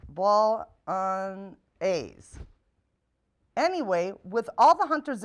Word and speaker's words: bolognese: the menu today is a recipe called whitetail bolognese that's pronounced ball on a's anyway with all the hunters in our household